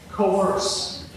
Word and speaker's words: COERCE: What's the acronym? Pronounce it. coerce.